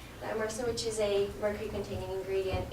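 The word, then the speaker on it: thiomersal: in this ingredient called thiazomerase. Am I saying it right? No. Thiamersa, which is a mercury-containing ingredient in the vaccine.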